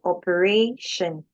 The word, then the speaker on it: operation: Uh, and we know that before shun, the a before shun is is not a, it's a like operation, not oper.